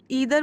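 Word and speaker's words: either: अच्छा ईदर बोलिए आइदर बोलिए एक ब्रिटिश प्रोनाउंसिएशन है मतलब इंग्लैंड वाला इंग्लिश वाला और एक अमेरिकन है। है ना? तो दोनों सही हैं। कोई भी गलत नहीं है।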